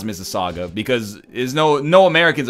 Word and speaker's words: Mississauga: lot of missus wag it looks like Mississippi but swagga at the ends it's Mississauga yes oh okay well